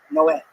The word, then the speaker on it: Noé: the Spanish translation, it's Noe is Noah, but it's pronounced Noé.